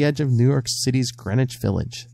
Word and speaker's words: Greenwich: of New York City's Greenwich Village the W in Greenwich by the way is silent kids and it's the